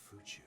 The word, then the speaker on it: Fuchu: Fuchu. Fuchu, all the way in The- Tokyo. They're pronouncing it wrong.